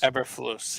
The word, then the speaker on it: Eberflus: Eberflus, yeah.